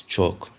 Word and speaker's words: CHoCH: Break of structure, the short name of it is BOS, while change of character it is chalk, as it's spelled as CHOCH.